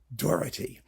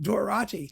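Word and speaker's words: Doráti: for 60 years and I have never heard him pronounced dorti he has always been pronounced dorati he was pronounced dorti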